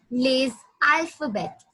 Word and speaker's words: les alphabets: Les alphabets. Les alphabet. S over here is silent. So it's a rule in French that last letter in French is always silent. It's silent the maximum of times.